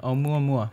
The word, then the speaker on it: Oumuamua: Oumuamua. Yes, which is like... Is that how you say it? Yeah, Oumuamua.